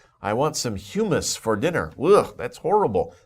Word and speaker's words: humus: this word before it's humus humus the pronunciation is humus sometimes people get a little confused about that but humus think about another word that's pronounced very similarly but is a different word hugh man but this